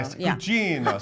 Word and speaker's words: Gugino: - You're speaking of Carla Gogino, (laughs) Beth told me to say it like that. - Carla Gugino - So that I, Gugino, so I said her last name correctly. - She's Italian, there you go.